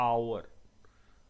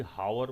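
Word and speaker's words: hour: जाएगा ध्यान से देखिए पहला वर्ड क्या लिखा आवर अब गलती से भी हार मत बोलना विकास जी अरे चीज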